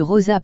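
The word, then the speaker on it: Roses: À Rosa, à moins d'une heure de voiture de Perpignan, Rose prononcée Rosa en catalan déploie ses charmes de destination familiale et sportive.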